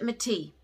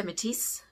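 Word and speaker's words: Métis: with lv the pachette methi a lot of people say matisse but it's not you don't pronounce the s unless there's an e on the end so it's push it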